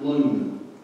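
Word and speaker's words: לוּן: It's Luwn, but it's pronounced lun.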